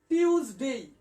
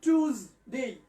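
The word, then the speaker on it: Tuesday: এটার উচ্চারণ হচ্ছে, দুটো উচ্চারণ আছে, আমি ভালো করে বলি। টিউজডে, টিউজডে অথবা টুজডে। আমি লিখে দিচ্ছি, সোহেল শুধু বোর্ডটাকে জুম করো, অন্য কিচ্ছু দরকার নেই। টিউজডে, এখানে দন্তস্ব হবে না, বর্গীয় জ হবে।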